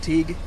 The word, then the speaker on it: Teague: it awesome Brooke yes Teague am I saying the right Teague yes like baseball league big black baseball league it